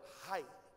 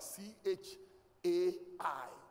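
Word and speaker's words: חי: But they spell it like C H A I translation literation. If you read it, you may think it is chai. But it is high.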